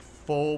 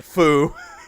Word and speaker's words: pho: And other Foo. My mom calls it foo. stuff. There, or actually, it's pho, right? You pronounce it pho places and stuff like that.